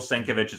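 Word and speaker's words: Sienkiewicz: how do you say Joe thank you Bill senkovich's art I really like this version of uh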